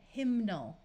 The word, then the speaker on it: hymnal: Here we're going to add the muffled suffix ul to get hymnal, where you can clearly hear the N sound.